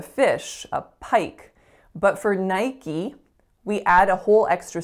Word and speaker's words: Nike: book Facebook Facebook so next up we have Nike Nike now this one actually I was a bit